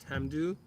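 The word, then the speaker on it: Tamdhu: do what you know however the the Gaelic is pronounced Tam do and we also have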